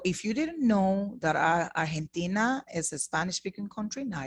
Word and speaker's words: Argentina: And if you notice, I said Argentina. Remember this pronunciation we went over? Argentina. Ha. Argentina. And in this case, you are using this pronunciation for the letter G.